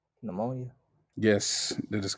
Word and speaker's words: pneumonia: throat and Diplo coaxial start with a p and the p is silent pneumonia yes that is correct